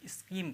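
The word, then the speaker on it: scheme: तो इसका अर्थ होगा इसमें ह साइलेंट रहता है तो आप स्कीम पढ़ते हैं ठीक है ये देखिए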